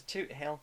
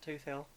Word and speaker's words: Toothill: And it's Toot Hill, not Tooth Hill.